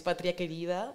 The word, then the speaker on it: Patria Querida: I don't know how is your Spanish going, Jonas, but but yeah, you pronounce it right. It's Patria Querida.